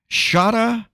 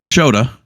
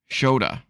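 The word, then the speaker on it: Shota: Now I'm gonna try and pronounce his name, but I always fail the first time on these. I'm gonna say Shada Umino. Close. Shoda. Shoda.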